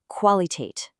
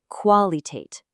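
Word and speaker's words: Qualität: Like in the word queen, but in German, it's a k sound. You actually pronounce the v as a separate sound. Listen really closely to this. The first word is qualitate.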